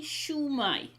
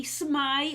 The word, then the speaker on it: shwmai: So if you're in South Wales, you say shwmai, how are you? Shwmai. But North Wales, they tend to say smai or shmai. So for South Wales, which is where we are, if you come to visit us and you want to say how are you, we say shwmai. Shwmai. So it's a shu and a mai.